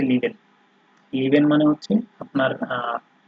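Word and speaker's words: lieben: যেমন আপনি এই যে এখানে দেখেন লিভেন। ঠিক আছে, লিভেনের মধ্যে আপনার হচ্ছে এই ই এবং এ, এই দুইটা যোগ হয়ে উচ্চারণ হয়ে গেছে লিভেন।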